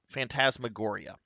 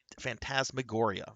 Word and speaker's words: Phantasmagoria: Let me pull up the darn name so I can pronounce it that way. Uh, Phantasmagoria. That's right. Fan- Phantasmagoria by Roberta Williams of Sierra.